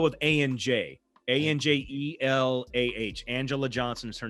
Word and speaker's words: Anjelah: Her name's Angela Johnson. Okay. Yeah, it's spelled with ANJ. ANJELAH. Angela Johnson is her name.